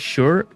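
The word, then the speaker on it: Shure: Is that how you pronounce it? Sure.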